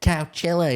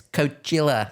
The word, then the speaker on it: Coachella: bro how are you saying Coachella it's not couchella it's Coachella as if you've got the right to tell anyone how to pronounce anything Zane low you absolute freak yeah